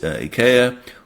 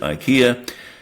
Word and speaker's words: IKEA: One example that springs immediately to mind is IA or if depending on where you live, how you pronounce it, IKEA.